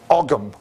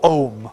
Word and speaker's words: Ogham: Ogham or Ohm, okay? Sometimes spelt with the H or not, depending on which Irish orthography you want.